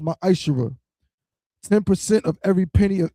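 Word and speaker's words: מעשר: Means tenth in Hebrew, is pronounced ma'ashera.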